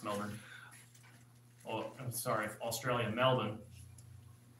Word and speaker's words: Melbourne: Yep, it's Melbourne.